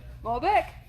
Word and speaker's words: Malbec: Malbec?